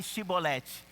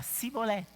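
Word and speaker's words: שיבולת: E essa é a pronúncia do Shibolete, né? Eles perguntaram, fala aí Shibolete. E quando era de Efraim, não conseguia pronunciar do mesmo jeito, falava diferente, falava Sibolete, né?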